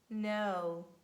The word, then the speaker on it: know: We never pronounce it in the combination K-N at the beginning of words. And we say knock, knee, neat, night, know, knowledge. Knowledge when you know something.